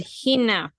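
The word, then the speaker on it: ἵνα: Hina okay very good Hina with a h sound because of the rough breathing Mark and the last word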